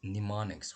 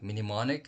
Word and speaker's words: mnemonic: to instruction it says mnemonics right here we check one of them just to make sure mnemonic mnemonic so if you have been pronouncing like minimalic then it would be wrong or mnemonic and this